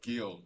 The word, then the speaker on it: Guillaume: Oh, Guillaume, right, because in the French terms, the last letter in every single word is silent.